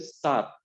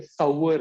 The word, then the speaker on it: sour: की तरफ there is सार। एक्चुअली ये सार नहीं है, ये इसको, इसका प्रोनाउंसिएशन जो है सावर, क्या है? सावर इज the pronunciation of this, right, सार नहीं बोलते, सावर बोलते, सावर, right, सावर इज the pronunciation of this.